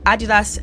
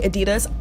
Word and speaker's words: Adidas: Blake Lively decided to wear Adidas x Balenciaga. I know Americans say Adidas, I'm British, so I'm just gonna say Adidas, but yeah, Adidas x